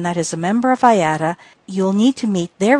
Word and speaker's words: IATA: Many commercial air carriers are members of the International Air Transport Association, or IATA, pronounced IATA.